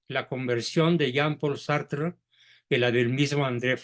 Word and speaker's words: Sartre: Paul sartre sartre y se pronuncia sartr porque el francés se come la e final sí Entonces corrígelo por